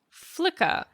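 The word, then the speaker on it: Flycka: Flicker. Is it a flicker? No, it's another vulture, of course. So, Flicker is spelled F L Y C K A.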